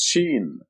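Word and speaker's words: ش: And this is Sheen. The name of the letter is Sheen, and it's equivalent to the English SH, as in show.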